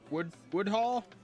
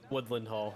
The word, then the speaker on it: Woodland Hall: Was it in Wood Hall? Woodland Hall. Woodland Hall. I knew I was missing a syllable.